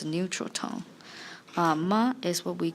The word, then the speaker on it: 妈: 妈 is what we called a question particle.